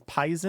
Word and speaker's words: poison: There's no etymology given in the English dialect dictionary, but one thing that occurred to me is there is the pronunciation of poison as pison.